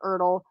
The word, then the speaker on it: ERTL: horse cow dog figures they are all marked e-r-t-l which i guess is pronounced ertl i used to just spell it out but